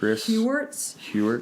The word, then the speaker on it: Heuertz: Yes, that's Chris a great Hewart, one. in the Sacred Enneagram really goes more into that. That's a big part of his Enneagram introduction. Okay. What was his name again? So he is Chris Hewart.